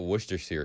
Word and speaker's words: Worcestershire: It's Shire, man. Where's the two E's back to back in sheer?